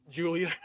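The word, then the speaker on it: Giulia: G-I is it gets that J sound.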